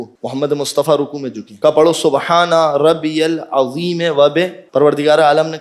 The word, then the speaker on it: ربی: پروردگار عالم نے کہا سبحان ربی الاعلی. یہ تلفظ صحیح کر لیں، یہ جلدی میں مجھ سے بھی نکلا. ربی را پہ تشدید ہے.